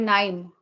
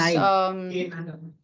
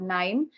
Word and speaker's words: KNIME: Yeah, there is an open source tool called KNIME. It's spelled as KNIME, KNIME. So that's an open source. K9.